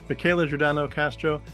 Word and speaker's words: Michela Giordano Castro: wrap up by say we were speaking with Michaela jordano Castro Michaela thank you so much I got your name right I pronounced it right I did it thank you